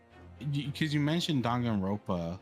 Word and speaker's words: Danganronpa: God, that's how you pronounce it, right? It's not No. Danganronpa. Danganronpa. Danganronpa. So it's Danganronpa. Danganronpa.